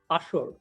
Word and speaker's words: ASER: Here it's pronounced Ashur.